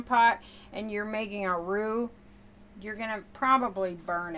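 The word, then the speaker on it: roux: in to melt and a AO is spelled r ux it's a French word and it's a thickening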